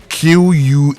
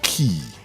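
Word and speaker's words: quay: Pronounced key. Key. Yes. As in key E. Just like the same way you pronounce key.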